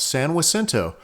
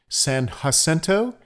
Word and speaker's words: San Jacinto: For the record, we have lived within 100 miles of Mount San Jacinto for more than 50 years, and in all that time, the way I'm pronouncing it is what we've heard most of the time.